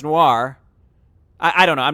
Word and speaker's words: Noir: Niar, like N-I-O-R is a word. Noir, it's pronounced noir.